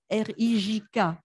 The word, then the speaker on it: Rijk: Alors ça, je ne sais jamais comment prononcer, R-I-J-K. Allez-y, c'est du néerlandais, Rijk.